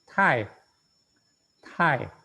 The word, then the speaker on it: 太: 好，下一个太，太，太第四声. Ya, aspirat kan suaranya, makanya kita bacanya juga harus aspirat, menyembur. Tai, tai, menurutnya gimana?